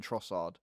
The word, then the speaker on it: Trossard: then if you say i don't think you pronounced a d in trossard a lot of the commentators just say trossar oh really yeah yeah